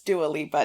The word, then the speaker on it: Dua Lipa: was like nope um it's dualipa it's dual Lipa not that I blame